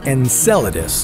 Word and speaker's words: Enceladus: alien life on Enceladus first of all it's pronounced Enceladus nut and coladas sorry muchacho Enceladus is Saturn's